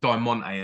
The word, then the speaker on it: Diamante: massive fan okay and you've got Diamante as well did I say it right it is yeah the Mexican wrestler the